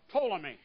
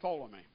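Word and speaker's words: Ptolemy: empire fell to uh toomy and of course it's p t o l m y but the p is silent so you come up with toomy now of all of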